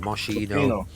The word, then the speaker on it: Moschino: I think for us in the 90s, it was Moschino and Moshi. What was it? Moschino.